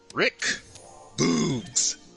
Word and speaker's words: Rick Boogs: Rick Boogs. That's how you pronounce his name.